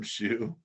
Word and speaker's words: Shew: I have $1 at Shoe, ADAMSHEW. My Cash App is $ Shoe 22. Shoe is spelled SHEW.